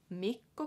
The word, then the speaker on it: Mikko: that and yeah so Miko has the double K again so just remember to kind of sit on that K for a little longer so me go make go